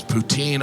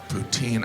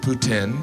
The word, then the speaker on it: poutine: smoothie it was delicious poutine I know some of you pronounce it Putin but you're still saying poo I love poutine and